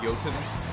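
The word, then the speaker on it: Jötunn: I know it's pronounced Jotun because I have played God of War Ragnarok and they have talked a lot about Jotunheim and the giants.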